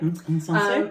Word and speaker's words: Insensé: This one right here, which is the Atelier Cologne Vanille Insensé. Is that how you say it? Insensé.